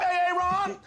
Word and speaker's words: Aaron: Because it's pronounced Aaron? Son of a bitch! You done messed up, Aaron.